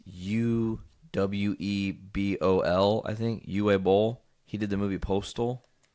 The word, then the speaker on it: Uwe Boll: Uwe Boll.